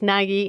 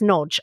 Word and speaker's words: Nagy: So all of us ignoramuses have been reading this as Nagy, and here you are to educate us. It is Nodge. Okay, thank you. Nodge is your Hungarian pronunciation, I think, although some Hungarians can call in and say how incredibly poor my Hungarian pronunciation is.